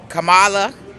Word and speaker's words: Kamala: Oh gosh, I thought about Trump or Kamala Harris?